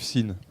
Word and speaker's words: SIN: SIN, c'est la première syllabe du mot sinusoïde.